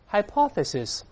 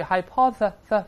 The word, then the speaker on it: hypothesis: 个动作，大声里面，hypothesis。注意，hypothesis 吐舌头，在里面，hypothesis，假说或者是假设。